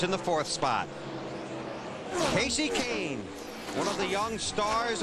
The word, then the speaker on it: Kahne: had trouble with pain I got called kahani a lot everyone knows now it's kasey kahne now on Kyle Busch